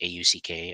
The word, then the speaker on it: Auck: the folks listening that it's not how you're thinking it's auck as in auckland new zealand is how it's spelled uh which i you